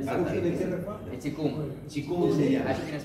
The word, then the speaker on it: Qigong: De Qigong. Qigong se llama. Ahí tienes que ir tú. Qigong. Lo más conocido es el Tai Chi. Que es digamos que es el hijo del Qigong. Qigong es la madre.